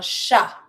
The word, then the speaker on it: chat: Un chat. Don't pronounce the T.